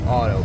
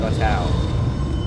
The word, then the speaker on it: Atau: It looks like it should be pronounced Otto, but they said Atau.